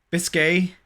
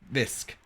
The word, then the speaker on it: bisque: Is it just bisque? Biscay? Biscuit? So that's why she's here now. Bisque. Good. Okay.